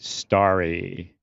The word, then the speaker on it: Starry: Once in a while, I get like a Sprite, and here they call the other Sprite, their Sprite, Starry, spelled like Larry, but with an ST.